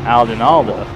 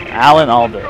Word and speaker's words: Alan Alda: It was because to me, Isaac looks like a young Alden Alda. Alan Alda. I always mispronounce that.